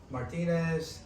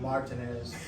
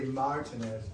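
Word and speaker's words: Martínez: So Martinez, and that's how you say it. It's not Martinez. I've never heard I've never heard any Spanish speaker or anyone named Martinez say Martinez. It's Martinez.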